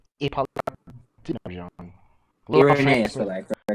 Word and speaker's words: Irenaeus: Irenaeus, but I correct my pronunciation.